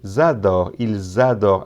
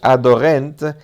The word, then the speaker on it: adorent: Y no es adorent, la ENT. Nunca en los verbos la ENT se pronuncia.